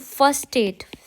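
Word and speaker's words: versteht: फर्स्टेट इह आलिस, फर्स्टेट का मतलब होता है, मैं यहाँ पे लिखती हूँ फर्स्टेट, फेस्टेट, फेयर स्टेट। अब यहाँ पे जो वी है, वी को हम एफ की तरह बोलते हैं।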